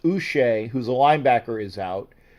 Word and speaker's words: Uche: Josh, I think his name would be pronounced Uche, who's a linebacker, is out.